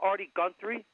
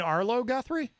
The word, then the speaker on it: Arlo Guthrie: Have you ever heard of Artie Guthrie? Did I say his name right? You mean Arlo Guthrie?